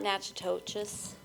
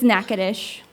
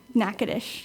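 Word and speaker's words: Natchitoches: you're not a local it's not Natchez its NACA desh by the way NACA desh it makes me very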